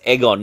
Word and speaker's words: Aegon: George says there is Aegon but but egg's name is Agon. Aegon Aegon is a name but it's Egon. You know how you pronounce it. He's not Aegon. He's Egon.